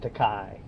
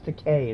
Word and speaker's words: Takei: i do damn good towards the kai oh my god i love sulu shout out to george takai well to k sorry george takei is actually how you pronounce it the master of puns